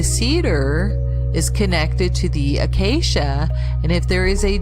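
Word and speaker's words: akasya: philippines it lists the acacia a-k-a-s-y-a as a medicinal plant acacia is phonetically the same as acacia a-c-a-c-i-a notice too acacia looks very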